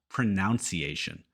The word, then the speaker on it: pronunciation: of a tricky word it's pronunciation not pronunciation this is a understandable mistake because we have the word pronounce so it's natural to want to say pronounce pronunciation but it's pronunciation nun pronunciation to help you remember here's a nun helping you learn pronunciation number two popular I